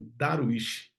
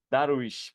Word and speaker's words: Darwich: hoje com uma pessoa muito especial Professor darwi primeira pergunta Professor como é que é a pronúncia correta do seu sobrenome Oi Igor tudo hein cara obrigado aí parabéns pela iniciativa sua mas é daruich darish Pronto agora is essa isso a a entrevista